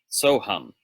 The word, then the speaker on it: Soham: But the reason that they're the same mantra is if you take Hamsa and you invert the syllables, then the sa, by Sanskrit grammatical rules, becomes so. So sa, S-A-H, sa, before hum, grammatically becomes so. Soham, Hamsa.